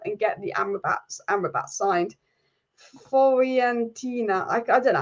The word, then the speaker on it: Fiorentina: And Alice Amrabat's club is not pronounced Florentina; it's pronounced Fiorentina. Fiorentina, is it?